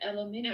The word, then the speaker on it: aluminium: They just say it aluminium. I mean, they add an extra syllable, but I think they might spell it with that extra syllable, too.